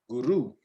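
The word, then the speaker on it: gurú: guru. Guru. Guru. You don't roll it, guru, Guru.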